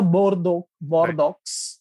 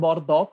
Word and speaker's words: Bordeaux: Or it's a Bordeaux. It's not Right. Bordeaux, it's a region in France. It's Bordeaux. Right.